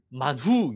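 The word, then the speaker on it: מן הוא: 무엇이냐라고 묻습니다 이것이 무엇이냐 히브리어 발음이이 히브리어 말이 만후 있니다 만후이 만후 히브리어 성경을 70 번역한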